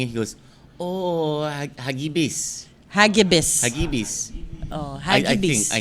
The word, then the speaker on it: Hagibis: It is How do you say the name? Hagib. It's a Tagalog word. Oh, it is? Yeah, Oh, cool. it means swift. Hagibis.